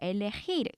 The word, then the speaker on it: elegir: 그런데 얘의 동사 원형의 발음에서 해 발음은 네 이렇게 목에서부터 나오는 거센 소리를 내주셔야 돼요. 엘레헤이르 이렇게 되거든요.